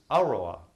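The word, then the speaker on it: aroha: Polynesian group and uh the word in Mari that's similar is AOA the accent is on the first syllable meaning to love without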